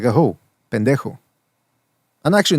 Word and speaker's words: pendejo: Pendejo. And actually, not even ho, because ho is more of a pronounced O.